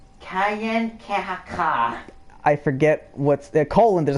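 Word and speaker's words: Kanien'kehá:ka: Kayen-Kahaka is how it's pronounced.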